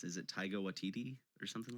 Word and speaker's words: Taika Waititi: It's I don't even know how to pronounce it. Is it Taika Waititi or something like that? Taika Waititi.